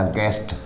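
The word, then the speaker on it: guest: इसी तरह G और E यानी G और वोवल के बीच में U है तो यहाँ भी U साइलेंट रहेगा, गेस्ट, अतिथि या मेहमान।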